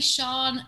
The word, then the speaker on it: Sian: jack it's not easy i say sean people say sean shane seen so it's s-i-a-n sean and it's the same